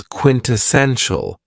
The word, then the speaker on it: quintessential: Another very cool adjective is quintessential. And this word has four syllables and the stress is on the third syllable. Quintessential. When we say that something